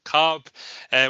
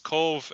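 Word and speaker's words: Cobh: one of Cove and probably the most mispronounced uh town in Ireland itself often called cob H we'll hear it so it's Cove uh here on the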